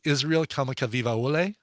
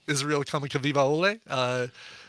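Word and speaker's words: Israel Kamakawiwoʻole: And he thinks I'm going to have a hard time pronouncing the performer of this version of Over the Rainbow. The guy's name is Israel Kamakavivaole.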